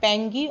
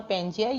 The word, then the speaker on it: Pangaea: So we can say this is the main continent, supercontinent, which is called Pangaea or Pangaea, you can pronounce as well.